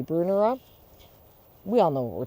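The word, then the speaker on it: Brunnera: about how to pronounce Brunner. And Maryanne says Brunner is named after a man named Bruner, so therefore it should be Brunera.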